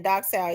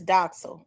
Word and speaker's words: Doxil: No, it's Docel. I I keep saying docile. It's doxil. Okay, y'all know I likes to pronounce words right. Um, it's docel.